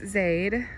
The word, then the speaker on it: Zaide: But here is Zaide. Again, it's spelled Z-A-I-D-E.